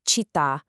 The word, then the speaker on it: città: Because the ends were abruptly truncated, the accent now rests heavily and permanently on that final vowel.